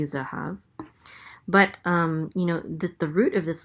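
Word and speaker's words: זָהָב: And a hey with a kamatz, which says ah, so this is ha. And then a vet closes out the syllable, so it says hav, zahav.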